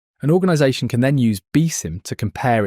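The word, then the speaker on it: BSIMM: One of the most well-known is the building security and maturity model or BISM pronounced BIM.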